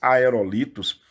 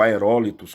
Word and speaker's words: aerólitos: Estrelas não caem do céu, são esses aerolitos, ou aerólitos, como queiram pronunciar, mas eles não causam, obviamente, um aumento de massa da Terra.